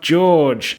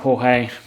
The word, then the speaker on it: Jorge: and welcome to Watch Yourself George, or Watch Yourself Jorge, depending on how the hell you want to pronounce my name.